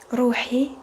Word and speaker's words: روحي: Ro, so you roll the R. روحي. And you use ح.